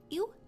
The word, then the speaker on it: ewe: Ewe? E-W-U? Ewe? That's The mother life. hair of death, yeah. Don't say that. No living thing is born to suffer. Look, it's already standing. You is pronounced like you.